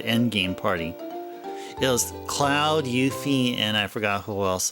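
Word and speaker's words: Yuffie: I used to pronounce I used to pronounce her name as Yafi. Her name is actually pronounced Yuthi. Did you know that? That that mysterious stealing girl. Her her name's actually pronounced Yuthi.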